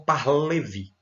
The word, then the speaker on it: Pahlavi: 1979 pelo xá reza pahlavi alguns pronunciam para Levi tá tão fácil xá reza pahlevi o nome dele é